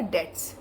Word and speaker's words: debts: bad something is bad about it what our debts debtors the other debtors it is now here B is silent okay de BTS yes we do not